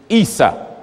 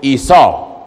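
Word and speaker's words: عيسى: you say the name Jesus in Arabic is ISA some pronounce it Esau that's right the way you say the name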